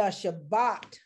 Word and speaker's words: Shabbat: the shabbat blessing and that is how it's pronounced in hebrew the shabbat blessing in other words the blessings that we get by observing shabbat and shabbat is the hebrew word for what